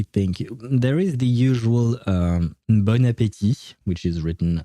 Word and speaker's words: bon: And it is pronounced bon. Right, yeah, no, this is where things get complicated. Because the first word, B-O-N, is supposed to be pronounced bon.